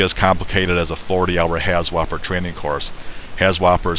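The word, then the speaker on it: HAZWOPER: it could be as complicated as a 40-hour has whopper training course ha Whopper is spelled h a z w o p e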